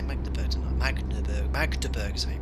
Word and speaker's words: Magdeburg: place i didn't say make the button magnet magdeburg so you pronounce it okay um what i might do